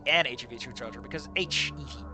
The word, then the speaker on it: HEV: That should be an HEV suit charger, because HEV. It is an abbreviation and it is pronounced individual letters, which means that phonetically it starts with a vowel.